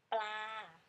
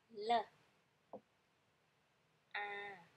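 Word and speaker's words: ปลา: In Thai, we say pla with the cluster sound. P. L. A.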